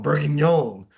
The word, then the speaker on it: bourguignon: the seitan uh Or bourguignon. I gotta get the accent going. Bourguignon. Yeah. yeah, you said it perfect. I can only say it right if I do the accent.